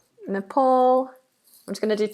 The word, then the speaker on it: Nepal: have the Netherlands with an S but it's pronounced as a zed the Netherlands we have Nepal Napal I'm just going to do two more and